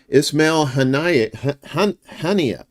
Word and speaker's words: Ismail Haniyeh: Ismail Haniyeh, that's how you say it.